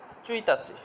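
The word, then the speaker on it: ついたち: 1 তারিখের জন্য চুইতাচি, তচু শুরুতে আসলে শুধু চু হয়, খণ্ডক্তটা বাদ যায়।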